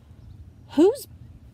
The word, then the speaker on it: whose: a question isn't it if I would look at this word and try to use my syllable types to decode it I see this bossy e here it would make me think you O would say its own name but a truly doesn't whose mmm it's not